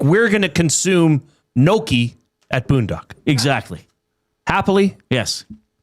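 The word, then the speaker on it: gnocchi: I think some people say I don't even think Noki is exactly right. But yeah, it's not I know it's not Naki.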